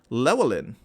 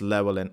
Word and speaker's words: Llewellyn: Double L's. Here we go. Double L's as an H and an I simultaneously.